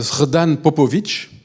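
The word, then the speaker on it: Srđa Popović: Si vous voulez avoir un peu d'espoir par rapport à ça, achetez un livre de Srdan Popović, ça s'écrit comme ça se prononce, et c'est comment faire tomber un dictateur quand on est petit, sans force.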